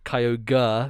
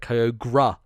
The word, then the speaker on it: Kyogre: kyogre was mine where instead of kyogre whereas like the re is just like a r sound i was like kyogra um like he was gra uh at the end there so that's probably my